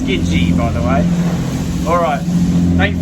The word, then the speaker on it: Tsukiji: There's a couple of other past trips up here over the last few years on this boat, which is pronounced Tsukiji, by the way.